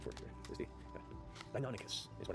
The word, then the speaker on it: Deinonychus: I'm sure I've got the actual pronunciation for it here. Where's the... Deinonychus is what it's known as.